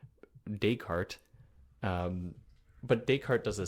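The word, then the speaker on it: Descartes: do you pronounce it why do you pronounce deart deal and I was like okay okay dayart um but dayart does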